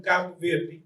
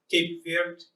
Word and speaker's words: Cabo Verde: So I'm from Cabo Verde, and if you notice, I will be saying Cabo Verde, Cape Verde, because Cape Verde is English pronunciation of Cabo Verde. Cabo Verde is Portuguese pronunciation, so I will be doing